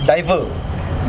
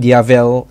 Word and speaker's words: Diavel: It's Italian pronunciation for devil, Diavel.